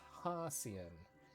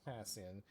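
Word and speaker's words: Hassian: statement of his pronunciation it's haian haian not hian haian makes sense hi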